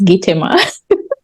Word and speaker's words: Gitomer: That is hopefully how they pronounce it, Gitomer or Gitomor, whatever. Yes, Gitomer. Deo, you didn't learn phonetics. It's Gitomer.